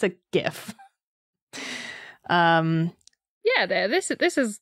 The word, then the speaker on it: GIF: or gif depending on it is gif it's a gif it's a hard g the guy who invented it has said that so also it stands